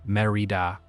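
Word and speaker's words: Mérida: Merida, pronounced MH Rita, the capital of the Yucatan state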